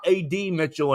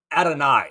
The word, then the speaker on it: Adonai: to Xavier worthy and it's not ad Mitchell anymore it's ad Adonis Mitchell right is that how they want to say his name now uh Adonai excuse me Adonai Mitchell he doesn't want to be called ad Mitchell they made that point